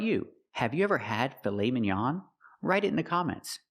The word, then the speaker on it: filet mignon: It's not filet mignon, it's filet mignon. We use the ah sound, the open ah. Ah, like hot and stop. Filet mignon. Filet mignon. It's a French word, but we pronounce it like this in American English.